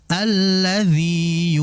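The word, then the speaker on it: الَّذِي: Alladzi alladzi lihat di situ ya itu adalah ya maddi yang keluar dari aljauf makhrajnya keluar dari rongga rongga mulut ya. Sehingga jangan sampai kita mentasdidkan ke ya berikutnya. Alladziyu kan ada ya. Jadi jangan sampai mentasdidkan seakan-akan seperti idgham mutamilain. Alladzi yuwastida ya di situ dibaca panjang.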